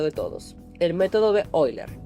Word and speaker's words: Euler: Sí, sé que se escribe Euler y sé que en general en habla hispana le decimos así, pero pues yo aprendí que en su idioma original se pronuncia Euler y simplemente no puedo dejar de hacerlo.